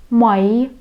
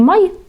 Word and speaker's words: mai: Да, долго произносим как букву «и». Не «май», «май».